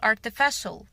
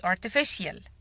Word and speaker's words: artificial: عكس كلمة natural صناعي يعني بنقول artificial مش artificial.